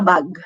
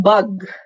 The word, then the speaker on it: bag: We sometimes pronounce it the way we say it in Tagalog. So we say, I bought a bag. Okay. Anong bag? Okay. Sometimes nagiging bug, which is your B-U-G. Nagiging insekto, bug.